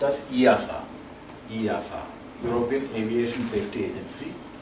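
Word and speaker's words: EASA: a Aviation safety agency it is it is pronounced as iasa iasa European Aviation safety agency and in us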